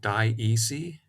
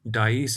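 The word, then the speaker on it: dioecy: And that condition in plants and sometimes in animals is called diece. That's one way of pronouncing this word. It's the way that I pronounce it anyway.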